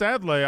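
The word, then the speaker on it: Adlai: if you got it go for it that's adlay I know that one but too much I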